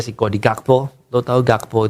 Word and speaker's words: Gakpo: kodi gakpo lu tahu gakpo itu kalau pronunciation Belanda Ternyata bacanya kayak hakf atau gimana gitu hakf hak jadi gitu depannya tapi kita gakpo aja